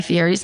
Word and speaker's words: Fieri: It's the correct pronunciation of Guy Fieri's name, which is Fieri.